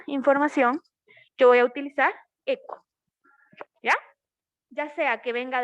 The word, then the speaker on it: echo: Bueno, se escribe hecho, pero se pronuncia echo, que es el que me le da el envío a la información.